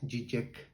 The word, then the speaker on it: Žižek: slavo Eh cisec bueno se escribe con con zas pero su pronunciación correcta es gek entonces slav gek eh